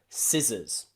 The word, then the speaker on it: scissors: you remember little rule if the c is after the letter s we don't need to pronounce both letters we just pronounce the first one s okay scissors muscle crescent